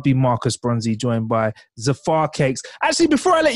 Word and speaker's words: Zafar: just it just sounded Zafar I would pronounce it as zafa and it's just a bit like Jaffa so it's just Jaffa